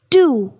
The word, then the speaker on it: two: silent n hour G part t w o 2 W is silent n two H part w h o